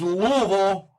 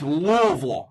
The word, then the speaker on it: Louisville: is ranked 17 against Louisville. And I said it right, it's Louisville, not Louisville. Louisville.